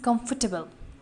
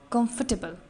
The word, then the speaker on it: comfortable: Number two word is comfortable. Comfortable. R को जो है वो silent कर देंगे, comfortable पढ़ेंगे इसको. Number third word is festivals.